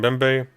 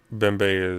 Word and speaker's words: Mbembe: Nate side note for the name uh the mem is silent oh bembe so a shield bembe God I've been calling him mbembe forever so that's embarrassing um uh bmbe is cameroonian and that's